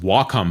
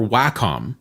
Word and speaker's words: Wacom: trust me I've tried them all it is pronounced walkom by the way not wcom or Wacom W in Japanese means Harmony and Comm computer